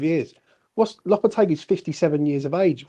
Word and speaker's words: Lopetegui: How do you pronounce Lopetegui? Yeah, Lopetegui.